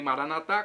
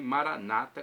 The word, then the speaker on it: Maranata: evangélicos ou protestantes Maranata católicos dizem Maranata com a tônica na última sílaba protestantes dizem Maranata com a tônica na penúltima sílaba Normalmente eles dizem assim